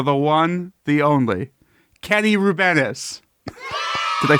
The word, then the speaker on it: Rubenis: But then I met someone from Latvia, and she was like, "Oh, your name is Rubenis," and I was like, "Oh, sure, I guess." So I pronounced it wrong myself, so it's fine. It's a lot better than rub penis. Yeah, I mean, a lot of people go for the rub penis sound alike thing.